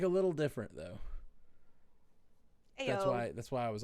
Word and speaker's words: Io: What a fun name, Io. I-O. Yeah. No. It's Ayo from A- here.